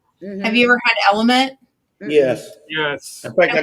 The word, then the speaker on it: LMNT: Well, it's like, I tell people I drink Element. Mm-hmm. Have you ever had Element? Yes. Yes. In fact, I got it from you. You did. It's LMNT is how it's spelled.